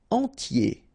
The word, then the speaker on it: entier: Entier. So remember I-E-R, I-E, okay? And then the T, tier, and the nasal before, en, entier.